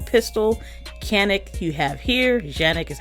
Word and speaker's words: Canik: Canik is how they pronounce it.